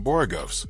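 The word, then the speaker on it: borogoves: After hearing him mention Borugovs, which by the way is the correct pronunciation, I stumbled upon a few fun facts worth sharing.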